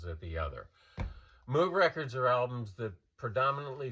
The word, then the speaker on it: Moog: Basically, in Germany, his last name is pronounced Moog. In Great Britain and other English-speaking countries, it's pronounced Moog, because in English-speaking countries, you see the two O's and you assume it's pronounced Moog, and that's my defense,